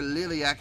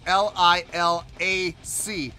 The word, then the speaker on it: Liliac: I did for Liliac, I didn't see the second I. All I saw was L-I-L-A-C. So I thought it was Lilac. I just swear to God, I did not see the I after the second L. I swear to you, I didn't. So that's why I was calling them Lilac. Now that I clearly see it's L-I-L-I-A-C, I would never call that Lilac, ever.